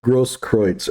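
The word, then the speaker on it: Grosskreutz: arts and mr was kevin gross nobody could pronounce that poor bastard's name it's a gross kreutz and by the way his own lawyer can't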